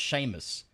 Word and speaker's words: Seamus: but it's spelled Seamus it's spelled Seamus though is it pronounced Sheamus it's how it's pronounced Sheamus I'm going to call